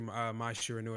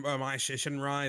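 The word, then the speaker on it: Mai Shiranui: It is actually my Shiranui because I was confused for a moment. But I mean, if people were saying my Shinrai, then it's whatever.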